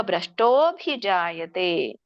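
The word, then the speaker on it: ಭ್ರಷ್ಟೋಽಭಿಜಾಯತೇ: ಚಿಹ್ನೆಯ ಉಚ್ಚಾರಣೆ ಅ ಬರುತ್ತೆ ಸೋ ಹಿಂದಿನ ಪದ ಏನಾಗುತ್ತೆ ವಿಸರ್ಗ ಆಗುತ್ತೆ ಯೋಗ ಭ್ರಷ್ಟಹ ಅಭಿಜಾಯತೆ ನೀವು ಹಾಗೆ ಹೇಳಬಹುದು ಯೋಗ ಭ್ರಷ್ಟಹ ಅಭಿಜಾಯತೆ ಇಲ್ಲ ಕೂಡಿ ಹೇಳಿಕ್ಕೆ ಬರುತ್ತೆ ಅಂದ್ರೆ ಅದು ಹೇಳಿ ಯೋಗ ಭ್ರಷ್ಟೋಭಿಜಾಯತೆ ಭ್ರಷ್ಟೋಭಿಜಾಯತೆ ಇದರ ಒಂದು ಅರ್ಥ ತಿಳಿಕೊಳ್ಳೋಣ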